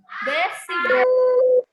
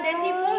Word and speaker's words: decibel: Dan ternyata sound levels can be measured in decibel. What is it? Gimana tadi bacanya? Decibel. Bukan desibel ya. Decibel.